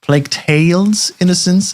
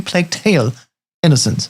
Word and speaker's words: Plague Tale: Innocence: If I say it correctly, it's not plague tales innocence. It's a plague tale innocence singular.